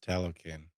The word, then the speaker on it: Talokan: That also mirrors, in a way, Talokan. Is that how you pronounce it? Talokan? Yes, Talokan.